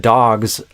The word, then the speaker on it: dogs: But in theory, it's like, but dogs is supposed to be a Z and cats is supposed to be an S.